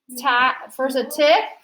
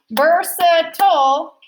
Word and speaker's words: versatile: How does that I sound? Is it a long I? Versatile? Versative? No. Or is it schwa? Yeah. It's also schwa. And cross out the E. Okay, versatile, 3 syllables.